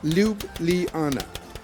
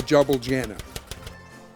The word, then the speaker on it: Ljubljana: by the way that's loop Liana not well Javal Janna J's are pronounced like a long e in the middle of the word like in the English